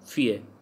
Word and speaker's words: fille: Then fie means a girl, fille, so ill pronounced as y, so fie.